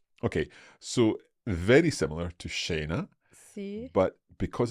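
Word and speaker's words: scena: think sha spell sha okay so sha we've got a sh sound like a sheep in English and that is going to be the combination of s and C followed by an i or an e here we've got e sha s c e n e okay so make sure there is no h in the way you have spelled this word you don't need it and sha means like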